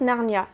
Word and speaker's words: Narnia: Et pour deuxième information, Narni est une ville en Italie et le nom latin se prononce Narnia, d'où Le Monde de Narnia.